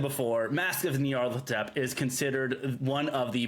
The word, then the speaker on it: Nyarlathotep: Yeah, Nyarlathotep.